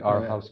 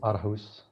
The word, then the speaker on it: Aarhus: The Our House convention? Our house. Yeah, maybe I'm pronouncing that incorrectly. It's a Danish city. Okay. I don't know how you say it. Aarhus.